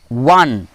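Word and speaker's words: one: ওয়ানে আমরা ওয়ান ওয়ার্ডে যখনই ও দিয়ে শুরু হচ্ছে কিন্তু ওয়ান পাচ্ছি আমরা, আর ওয়ানের উচ্চারণটা কীভাবে হচ্ছে, শুরুটা ওয়া দিয়ে হচ্ছে, তখনই কিন্তু আমরা এ বসাবো।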